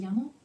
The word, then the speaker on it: llamo: And the person says, me llamo. Well, the person's name, in this case again, Sima. Okay? So, pay attention to this word. It's a double L in English, which we actually pronounce it like ye.